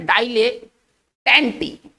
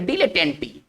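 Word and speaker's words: dilettante: देखिए हमारा जो नेक्स्ट वर्ड है वो एक बहुत अच्छा वर्ड है, इसको पढ़ेंगे डाइलेटेंटी, है ना, इसको पढ़ेंगे डीले, इसका ना डाई नहीं पढ़ेंगे, इसको पढ़ेंगे डिलेटेंटी, ठीक है ना।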